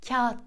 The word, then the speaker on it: kağıt: bahsedeceğim Ama bu haliyle Kağıt karşımıza çıkıyor ve biz Kağıt demiyoruz kesinlikle Kağıt diyoruz Buna dikkat edelim bugünlerde biraz daha doğru